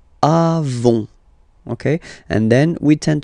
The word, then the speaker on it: avons: Then, nous avons, final s, not pronounced, avons, okay, and then we